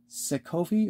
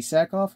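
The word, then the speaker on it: Sackhoff: character was was played by actress um Katie sovi or Katie saakov if I'm pronouncing your last name correctly and just to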